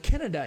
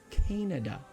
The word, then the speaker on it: Canada: we all know that Canada is actually pronounced Canada and I'm not kidding look at the word it's c a n a d a it's Canada this a here is actually a long a okay if it was